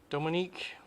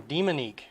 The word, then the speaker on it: Demonique: came in wacky wobbler it's called dominique no demonique i've been mispronouncing it the whole time dominique made by funko